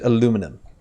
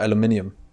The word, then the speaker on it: aluminium: that means we need aluminum or aluminium aluminium aluminium I think it's different compared if you American or you are British I think there's some kind of way to pronounce it correctly so let's see here